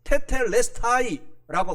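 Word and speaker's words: τετέλεσται: 그래서 헬라어 원어로는 테텔레스타이라고 발음을 하고 있습니다.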